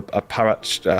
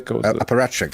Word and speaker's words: apparatchik: What the hell is it sort of a robot, a kind of a paratchik? How do you say that word? Paratchik? Apparatchik.